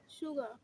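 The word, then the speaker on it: sugar: বাস কি বাত মেয়ে এস ইউ জি এ আর সুগা সুগার সুগা সুগা র র আস্তে করে উচ্চারণ করতে হবে র আস্তে করে একদম আস্তে সুগা কিসব ভিডিওতে আজকাল উচ্চারণও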